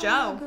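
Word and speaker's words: Djo: And like the rest of the world, I've been listening and hyperfixating over Joe Keery's music, better known as Joe. And when But That's just how you pronounce that. Joe.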